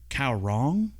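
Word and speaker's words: Kaoh Rong: gonna have to k-a-o-h space r-o-n-g k-a-o-h yeah cow wrong k-a-o-h yeah that's how it's spelled and what's the other one r-o-g-r-o-n-g karong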